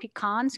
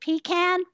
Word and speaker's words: pecan: still at home and somehow the conversation of pecans came up and i as a yankee i pronounced it pecan and she said it's pronounced pecan so okay